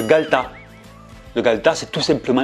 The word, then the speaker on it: galetas: ça s'écrit le galetas mais le E qui est au milieu, il le mange. C'est le galetas.